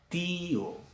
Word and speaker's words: tío: Bohío, una más conocida, tío. Vocal cerrada con tilde se va para esta sílaba y vocal abierta para la otra sílaba.